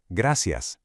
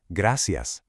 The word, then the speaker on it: Gracias: Gracias. Notice that soft C sound. Gracias.